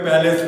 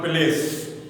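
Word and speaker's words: palace: প্যালেস, উচ্চারণ কি হবে? প্যালেস, নট প্লেস।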